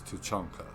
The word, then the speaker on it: Tuchanka: But yeah, Tuchanka and Tuchanka. It's Tuchanka. Just so that you guys know, he's saying it wrong.